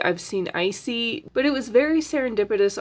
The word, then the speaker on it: Isi: where she actually says, "Hi, " That's how you pronounce that name.